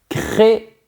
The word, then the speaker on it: créer: Créer ça veut dire inventer, fabriquer.